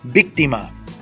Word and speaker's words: víctima: Víctima. You hear my voice? Víctima. El acento tónico. Víctima. I don't even need to think about it. Automáticamente. Why do I say automatically? Because it's beyond the last two syllables. 1, 2, 3 back. You will always have it. And where do I put the accent mark? Where the voice is raised.